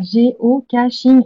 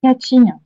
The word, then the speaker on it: géocaching: Alors, géocaching, c'est géocaching et pas catching.